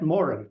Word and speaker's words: Moran: So, by the way, you said Pat Moran. That's how you pronounce it.